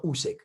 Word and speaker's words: Usyk: Usyk, or Usyk, let me speak, Alexander Usyk, let me pronounce it properly.